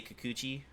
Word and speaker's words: Kikuchi: Yeah, you say Kikuchi.